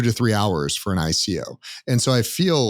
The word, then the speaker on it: ICO: initial coin offering or Ico which is rhymes with with IPO like there's a lot